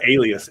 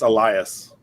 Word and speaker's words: Elias: And it's not alias, it's Elias.